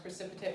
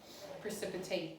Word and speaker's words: precipitate: a verb the precipitate it's pronounced precipitate when it's a noun precipitate when it's a verb so this y a